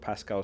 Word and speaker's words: Pascal: It's pronounced like the owl in crowd. Pascal Strauk.